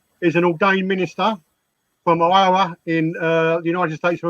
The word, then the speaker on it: Iowa: in Iowa. Yes. Is that the right pronunciation? Iowa? Yeah. Yep. Iowa. Yep. Iowa.